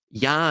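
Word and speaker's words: יה: Ya is the pronunciation of 15 in Hebrew.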